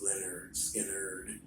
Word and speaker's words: Lynyrd Skynyrd: great things you'll hear when you're a ga pronounce Leonard Skinner you know and you know how you hear